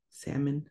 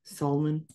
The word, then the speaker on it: salmon: always think it's weird we don't really pronounce that L salmon salmon anyways stagwad next I